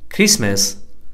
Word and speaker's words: Christmas: Fetch, Stretch, Scratch, Hatch It is also silent in the following words. What are the words that are PTT silent? Whistle, listen, castle, often, Christmas, wrestle, fasten, mustn't, T is silent.